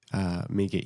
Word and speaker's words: Mieke: I said Mieke rhymes with sneaker.